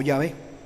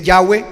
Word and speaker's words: Yahvé: yah es el padre algunos dicen yahwe mal pronunciado rechace Eso yahwe no es la pronunciación correcta no existe la W en hebreo se lo aseguro no